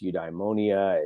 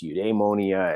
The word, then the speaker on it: eudaimonia: It's something that's variously been, you can pronounce this however you want it. It's eudaimonia, it's eudaimonia, it's eudaimonia, depends on exactly, and there's a